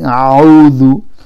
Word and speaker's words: أعوذ: Hamza in the beginning, so don't pronounce the ayn in the beginning. A'udhu.